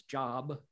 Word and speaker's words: Job: Well, there's a story in the book of Job, J O B, it's job, spelled like Jobs, Steve Jobs, but it's pronounced Job.